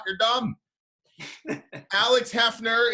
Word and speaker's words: HEFNER: It's, I never pronounced this band correctly. HEFNER. Right, Alex? That's that right. Yep, HEFNER.